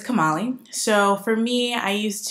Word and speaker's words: Kamali: And you would think Kamali is like pretty easy to pronounce. And some people get it like very immediately. And some people, it's like Camila, Camille, Kamala, because when the vice president was elected, everyone got confused.